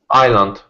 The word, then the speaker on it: island: to say this word island yes correct the s is silent so what do you